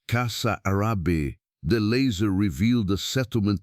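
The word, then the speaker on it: Casarabe: and the flooded plains gave up their secret in the Kazarabi region pronounced Kasa Arab.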